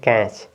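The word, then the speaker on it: catch: T silent हो गया तो आप इसका उच्चारण करेंगे कैच क्या है कैच टी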